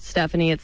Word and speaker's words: Stefani: I pronounce it Stephanie, but it's spelled like Stefani, so I just do that on the air.